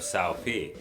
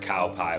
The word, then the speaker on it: Cao Pi: more strength out of Cao Pi. Don't know. And yes, I did pronounce it cow pie when I was a kid.